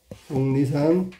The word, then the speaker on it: 속리산: 속리산. 틀렸네. 속리산. 이렇게 발음해야 되는 거야.